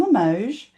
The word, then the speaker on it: Limoges: Her name is Christine Lamoge. That's L I M O G- Ess. Nobody knows how to spell it or say it.